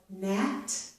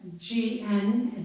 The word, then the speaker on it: gnat: But if we have the letters G plus N at the beginning of a word, such as gnaw or gnat, the letter G is silent. Here I have GN at the beginning of the word.